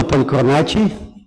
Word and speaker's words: Polychronakis: My name is Polychronakis. That's how we pronounce it in our dialect.